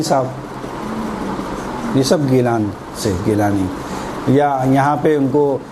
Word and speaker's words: گیلانی: کہا جاتا ہے جیلانی، وہ جیلانی صحیح نہیں ہے، جیلانی وہ حقیقت میں گیلانی ہے، جیلانی کچھ بھی نہیں ہے، تلفظ کی وجہ سے، چونکہ وہاں کے رہنے والے گاف کو صحیح ادا نہیں کر سکتے، وہ کہہ رہے جیلانی، کہاں کے رہنے والے؟ جیلانی، تو وہ جیلانی بن گئے، خیر اصل گیلانی ہے،